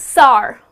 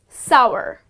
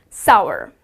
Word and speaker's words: sour: people pronounce it as SAR mmm that's so sour but that's incorrect to the correct pronunciation is sour like the word power so it rhymes with the word power so it's sour that's how you pronounce